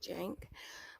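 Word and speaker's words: Cenk: to Jank okay my my brain kept want me to pronounce the C and I'm just like you don't pronounce it say that's why I said crank I knew it wouldn't crank because you don't pronounce it say yes Jank but anyways um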